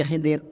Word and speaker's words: Khadir: Khadir atau nabi hiidir kita menyebutnya Nabi Khidir kalau bacanya Khadir sebenarnya riwayat Imam Abu nuim